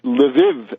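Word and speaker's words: Lviv: this place called lvav now lvav is the Russian LV oov in Polish it's laav but l w o w in Ukrainian it's leiv lvv in German it's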